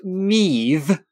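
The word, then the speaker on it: Mebh: And if you want to get even more complicated, in Ireland, depending on which county you're in, it could be pronounced Meave instead of Maeve.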